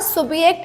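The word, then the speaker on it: Subjekt: ऐ सुबक्ट because in German language J is pronounced eight य सो वी से इट सुबक्ट नाउ सुबियक्ट in English is called as सब्जेक्ट सो यस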